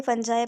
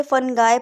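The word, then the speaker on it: fungi: अब आ ग भाई फंजा पे कुछ लोग इसे फंगई प्रंस करते हैं कुछ फंजा प्रोनाउंस करते हैं सम माइक्रो ऑर्गेनिस्ट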